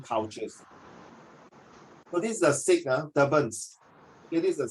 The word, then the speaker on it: Sikh: Take note, it's pronounced as Sikh, S-I-K-H, Sikh.